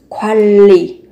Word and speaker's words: 관리: Thì ở đây mình lưu ý về cách phát âm, các bạn cần biến âm là thành 관리, niên mới đổi thành riêng là 관리, quản lý.